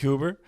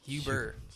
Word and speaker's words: Huber: videos please stop uh Hoover now did I pronounce that correctly your last name Huber I've always wanted to know no that's Huber Huber that's all right well